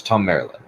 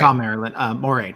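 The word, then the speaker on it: Thom Merrilin: Am I pronouncing the name right? Yes, Tom Marilyn. Oh, Not Moraine. Tom Marilyn.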